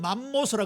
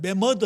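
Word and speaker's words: mammoth: 그 외에 저 북극 쪽에 가면 우리 옛날에 어른들은 맘모스라 그랬는데 그 정확하게 영어 발음이 매머드 아닙니까?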